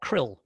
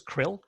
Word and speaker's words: CRL: the crl for short some people like to pronounce crl krill i'm not one of those people i have to say